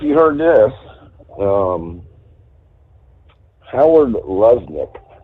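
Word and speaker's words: Lutnick: heard this um Howard Lesnik Lesnik I believe it's pronounced he's a economic senior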